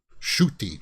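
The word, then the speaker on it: Ncuti: doctor who season 14 shooty is how you pronounce it uh original sin okay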